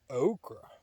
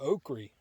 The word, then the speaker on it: okra: here's the next thing okra or oakley both are correct pronunciations so let me go